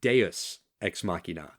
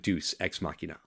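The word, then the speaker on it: deus ex machina: a comment on Facebook it's pronounced deos exmachina uh and I have to give her credit because she was just a guest it's not Deuce exmachina that is my I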